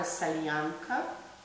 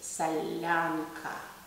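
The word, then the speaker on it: солянка: It's not a salyanka, it's salyanka.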